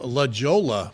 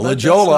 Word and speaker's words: La Jolla: Turn left on La Jolla. No. La Jolla.